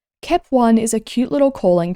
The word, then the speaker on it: Kep1: When sung, especially with the way it's pronounced in many of their songs, Kep1 sounds like keep on, allowing the group to tell their fans to keep on going and other fun, encouraging phrases.